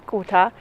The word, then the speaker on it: Gotha: How do you pronounce it in English? The German word is Gotha.